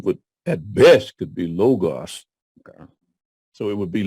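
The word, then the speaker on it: λόγος: that is not logo it's not only it's not omega long o it's Omicron so it would at best could be logos okay so it would be logos as actually yeah thanks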